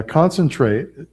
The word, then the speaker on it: concentrate: Now concentrate ends on a consonant sound, the T. The E is silent, so it ends on a T.